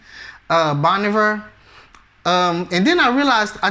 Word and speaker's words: Bon Iver: I thought that this year they were going to give it to Bon Iver. I think that's how you really say his name, Bon Iver.